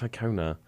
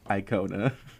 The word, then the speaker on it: Icona: We had a debate in the studio about how I should be saying Icona Pop, because apparently Americans say Icona Pop. Yeah, why not? Say it with the American accent, though. Icona Pop. You see, it's Icona. Anyway, and that was the See, first... it is Icona.